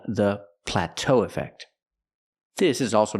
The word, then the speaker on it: plateau: stress the second syllable we have to stress both syllables and say pla Plateau so what